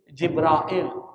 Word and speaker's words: Jibril: Jadi ada 2 kata yang dipakai tuh, Jibril. Keduanya nggak ada perbedaan. Maknanya sama, artinya sama, orangnya sama. Tetapi yang membedakan itu lebih pada sauti, ucapan aja. Tapi maknanya sama. Jibril. Kalau Jibril itu sudah menjadi terarabisasikan. Ngerti nggak maksudnya? Udah diarabkan Jibril. Tetapi kalau pakai bahasa Ibrani jadi Jibrail.